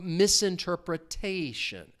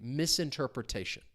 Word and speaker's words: misinterpretation: stress is going to come on the syllable before so misinterpretation misinterpret retation. It is a little bit of a mouthful if you say it. Say it with me. Misinterpretation.